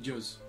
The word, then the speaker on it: Joz: Personnellement, moi j'aime bien prononcer le J comme un I, comme dans certaines langues, ce qui donne Joz.